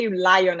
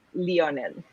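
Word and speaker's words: Lionel: gonna say it wrong you're gonna say you lie on and it's leonel oh sorry leonel but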